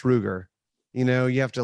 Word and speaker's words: Ruger: we get a nosler rugger wait that's ruger you know you have